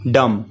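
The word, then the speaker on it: dumb: पाएंगे से कंट्रोल है डम इसमें भी साइलेंट होता है हम इसको पड़ते हैं डम डम मंे गूंगा ए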